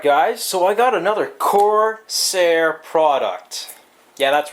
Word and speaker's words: Corsair: Alright guys, so I got another Corsair product. Yeah, that's right, I said it right finally. Now stop your bitching about me saying Corsair. Not pronouncing the R. But anyways, so this is the Corsair VX 550 watt power supply.